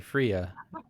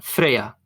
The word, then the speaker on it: Freija: I've been saying Freija. I mean, if you really want to say it the way she says it, it's gonna be Freya.